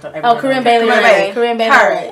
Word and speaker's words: Corinne Bailey: I say she's like the corny, Carney Bailey. I can't pronounce her. Oh, Corinne Bailey.